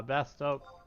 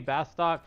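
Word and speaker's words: Bastok: spelled some people say bastock some people say best o but there's no C there there's no stock it's it's it's to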